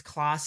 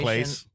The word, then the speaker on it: Classe: It has a unique, but it's Classe C. Is it Classe? I haven't even looked yet. It's a weird pronunciation. It's not Clace.